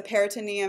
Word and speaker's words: peritoneum: spell them ok so the peritoneum and the accent is on the E ma'am you have this